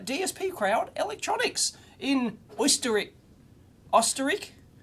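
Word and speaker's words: Österreich: crowd electronics in history Oster ik anyway that's the Austrian pronunciation pronunciation of Austria apparently it's a oh jeez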